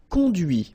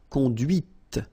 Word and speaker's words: conduit: And that's when you hear the difference between conduit, because remember, final T is not pronounced, conduit, here, and then the feminine, conduite. Okay, so here you can listen to this t, t, okay, conduite, all right?